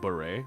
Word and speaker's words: beret: It's pronounced beret.